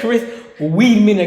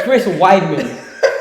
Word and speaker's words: Chris Weidman: have to restart and it's staying in never pronounce Chris never said Chris Weedman again it's Chris Weidman Wiman Weedman weed who man yeah that's what